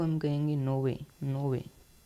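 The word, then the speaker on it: nove: हम कहेंगे आठ ठीक है को हम कहेंगे नोवे नोवे नो को हम कहेंगे नोवे नोवे का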